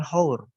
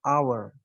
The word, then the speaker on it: hour: huruf hidup terlebih dahulu ini membacanya bukan hours tapi our our pengucapannya terlihat seperti menggunakan huruf hidup makanya kita gunakan n